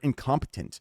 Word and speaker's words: incompetent: I just feel like it's tricking you, incompetent, because it's like the P isn't pronounced, but it is incompetent. Incompetent. In order to say the tint part, incompetent.